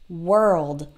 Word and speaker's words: world: sounds like a work world if you can say the word were like was and were wer e then it's the same sound work world and I know that